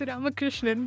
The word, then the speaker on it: Ramakrishnan: That's how you pronounce your family name. No, it's Ramakrishnan, but okay.